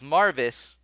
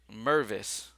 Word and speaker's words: Mervis: all right so with Marvis where are you dude oh there you are okay I'm nervous my bad I'm saying his name wrong Mervis all right so Mervis